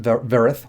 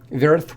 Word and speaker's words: Vyerith: I believe it's pronounced vyerith with the Y being silent.